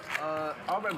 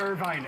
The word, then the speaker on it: Irvine: You know, Arvin, Boulevard? Arvin. I don't know No? what that is. Irvine.